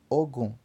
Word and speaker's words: ogum: Então, 20 pronuncia-se ogum. 30 pronuncia-se obon, obon. Para falar o 40, como